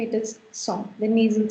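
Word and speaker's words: cent: This is called song. Please never pronounce this as saint or anything else. It's song. Why? Because this is the sound of on.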